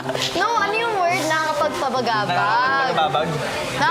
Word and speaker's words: nakakapagpabagabag: "Nakakapagpabagabag."